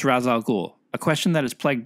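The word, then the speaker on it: Ra's al Ghul: their most legendary encounters bat tangent how to pronounce razal ghul a question that has plagued batman fans for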